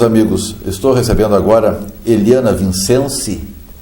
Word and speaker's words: Vincensi: Bom, meus amigos, estou recebendo agora Eliana Vincenzi. Italiano pronuncia diferente, né? Vincenzi. Vincenzi.